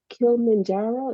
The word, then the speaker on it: Kilimanjaro: really cool and then also you climbed Mount Kilimanjaro is that how you pronounce it yeah that's how you pronounce it